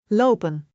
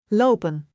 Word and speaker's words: lopen: For example, the word lopen means to walk. In English, we might say walking, but in Dutch we say low. Pen. Pronounce both syllables clearly. Lopen.